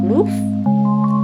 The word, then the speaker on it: LOOIFE: I typed that in Amazon, and I found one with the brand called Loof. It's spelled Looife, and they charge $7.99 for 12.